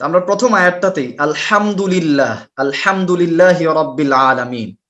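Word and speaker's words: الحمد لله: তো আমরা প্রথম আয়াতটাতেই আলহামদুলিল্লাহ, আলহামদুলিল্লাহি রাব্বিল আলামিন এটা পড়ার সময় হা উচ্চারণ করতে পারি আমরা কয়জন?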